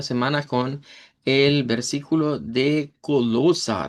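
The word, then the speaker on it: Kolosser: Cerramos la semana con el versículo de Colosa. Recordarán que esa es la pronunciación para decir Colosenses en idioma Deutsch.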